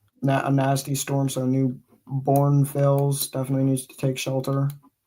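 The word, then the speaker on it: Braunfels: But again, looking at the storm near New Brunneufel. I don't know how to pronounce that again. That is Born. Just say Born. That's how it's pronounced. Brown, Bornfels? Yeah. Bornfels.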